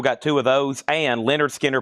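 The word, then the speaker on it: Lynyrd Skynyrd: and Leonard Skinner. Pronounced Leonard Skinnard.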